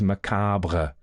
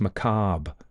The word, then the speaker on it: macabre: The other one I have is macabre. I tend to I put the R at the end because I like it. People go, it's pronounced macabre.